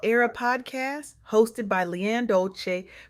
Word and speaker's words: Dolce: Welcome to the soft girl era podcast hosted by Leanne Dolce, pronounced dolce like sweet softness whispered in French.